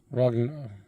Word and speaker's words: Roggenrola: Roggenrola.